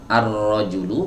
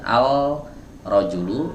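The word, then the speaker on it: الرجل: bukan emas gitu ya arrojulu bukan Al rojulu karena ro huruf Syamsiah yang ada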